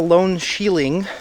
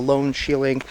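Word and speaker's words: Lone Shieling: Well, that is it for the Lone Sheiling. Um, I think I said it wrong the first time, but it is called the lone shielding.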